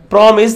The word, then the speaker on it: promise: But in this promise, the stress will be on the first syllable.